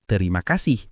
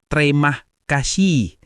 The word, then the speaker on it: terima kasih: Kalau tulisannya terima kasih ya dibacanya juga terima kasih bukan tremah kasihi seperti bahasa Inggris yang sering bikin bingung.